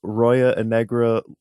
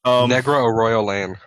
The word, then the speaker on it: Negra Arroyo Lane: Fucking, you can find me at 308 Roya and Negra, Albuquerque, New Mexico. You can also Didn't find even me. say it right. I know. Okay. Negra Arroyo Lane.